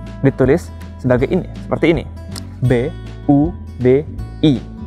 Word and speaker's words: Budi: B-U-D-I. Meskipun kadang diucapkan bukan seperti Budi, tapi seperti Buji. Tapi itu hanyalah masalah lidah orang Rusia.